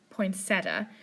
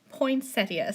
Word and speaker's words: poinsettia: because usually I say poinsettia. Google said either is acceptable, however, I do believe that the correct pronunciation is poinsettia.